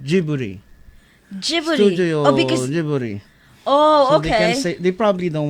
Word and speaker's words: Ghibli: to do Ghibli because that's how the Japanese would say it because it's pronounced jibbery oh okay they probably don't want to say it like Ghibli but to be fair